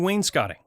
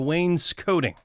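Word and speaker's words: wainscoting: forgiving that is simple installing Wayne scotting yeah or Wayne coding I think we had this discussion once how it's actually pronounced and both are generally accepted it's interesting because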